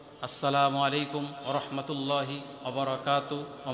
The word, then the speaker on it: আসসালামু আলাইকুম: মধ্যে ভুল উচ্চারণ সালাম আলাইকুম সালাম আলাইকুম এভাবে উচ্চারণ করে সামু আলাইকুম মানে তোমার মৃত্যু হোক সামু আলাই মানে কি তুই মর দোয়া করতেছে মরার এই জন্য শুদ্ধ সালাম দিতে হবে উচ্চারণ যেন শুদ্ধ হয় আসসালামু আলাইকুম আসসালামু আলাইকুম তো সালামটা কতটুকু হবে সেটাও কোরআনে